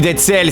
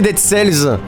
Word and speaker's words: Dead Cells: Il est marqué Dead Cells. Il y a un S, on le prononce.